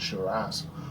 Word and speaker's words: Shiraz: Oh my God, Shiraz. That's how you say it, Shiraz, or an too oaky Chardonnay.